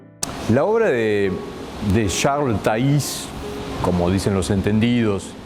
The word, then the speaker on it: Thays: La obra de Charles Taís, como dicen los entendidos, y él se preocupó